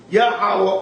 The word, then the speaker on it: Yahweh: That this seems to be the true Hebrew pronunciation of the divine essential name Yahweh or Jehovah.